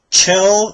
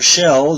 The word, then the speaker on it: Chell: This time we'll be taking a look at the Chell, or Shell, depending on your pronunciation of it, figure from Portal 2 from NECA.